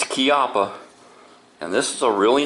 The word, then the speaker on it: Chiappa: is made in Italy and yes it is pronounced kppa um I hear a lot of people saying chippa but no it's kppa and this is a really nice holster I